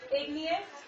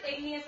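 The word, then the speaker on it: igneous: of rock is granite everyone say the word Ignus IGN say the word ignas again IGN now say it to your teammate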